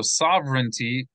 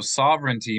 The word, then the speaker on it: sovereignty: is that okay so sovereignty the G is going to be silent they don't pronounce it